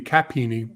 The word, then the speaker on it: chapini: Chapini. Pelusios, well, I guess it would be Capini because everything in Latin is CH is supposed to be pronounced with the K sound.